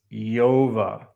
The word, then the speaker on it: Job: How is Job written? Iota, omega, beta. Yov. Jove. Don't ever, if you're Christian, it's time to raise the standards for you.